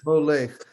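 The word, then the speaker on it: מֹלֵךְ: Molech. The two dot vowel under the final kaf is silent. Okay. It's always silent when it's in that situation. So it's Molech.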